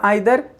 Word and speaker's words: either: हम ईदर बोलें या आइदर, नीदर बोलें या नाइदर। सो फ्रेंड्स, एक्चुअली दोनों प्रोनाउंसिएशन सही हैं। आप ईदर या आइदर, नीदर या नाइदर, आप कुछ भी बोल सकते हैं।